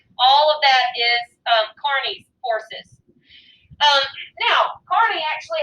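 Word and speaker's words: Kearny: job of general stephen carney and it looks like kearney but i pronounced carney um general stephen carney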